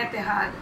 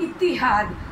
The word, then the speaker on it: इत्तिहाद: इसी तरह इत्तिहाद, और हम आराम से बोल देते हैं एतिहाद, अतहाद, इत्तिहाद, मतलब मुख्तलिफ प्रोनाउंसिएशंस के साथ इत्तिहाद।